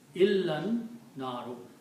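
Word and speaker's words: إلا النار: अनारो मीस the fire so न you pronounce this together इला एंड अनारो य ड नट प्रोनाउंस दिस अलिफ इल ना रो इलन नारो accept the fire they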